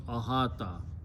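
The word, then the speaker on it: أحاط: When you pronounce, this waw sounds like alif, so it becomes ahata.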